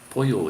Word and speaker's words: pollo: When you see one L in a word, it's pronounced with an L, but the minute you see two L's in a word, it's pronounced as a Y.